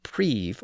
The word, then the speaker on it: prive: The initial vowel sound in each of those words was traditionally spelled with an I and pronounced with the sound of the letter I at the time, which was E.